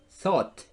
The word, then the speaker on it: thought: Think, thought. Ojo con la pronunciación. Think, thought. Thought. Olvídense de la U, la G y la H. Es tho y la T.